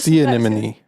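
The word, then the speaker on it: anemone: right we'll have to listen back on the see animony yeah that was good see an this is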